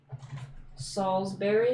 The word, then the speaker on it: Salisbury: Salisbury, like steak, Yeah. but maybe it's spelled like Berry.